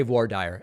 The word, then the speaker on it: voir dire: On yesterday's show, you misread voir dire. It's French. No, I understand that. In American jargon, they just say voir dire. I know that it's not the French pronunciation, but I do appreciate the well-intentioned correction.